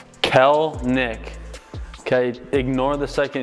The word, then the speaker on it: Kelenic: pronounce your last name it's really easy two syllables Kel Nick okay ignore the second